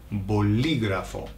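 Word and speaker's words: bolígrafo: Be careful with the pronunciation. There's an accent on the I, boligrafo.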